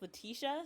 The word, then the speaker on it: Latisha: So my name's actually pronounced Latisha, so it's like, the E sound in the middle. I don't know why that I is there, but it's like transforming into a different sound.